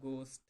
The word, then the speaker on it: ghost: Don't be scared of ghost. Ghost में H silent रहेगा.